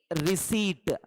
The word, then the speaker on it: receipt: No P pronunciation in this. P is silent. It is only receipt.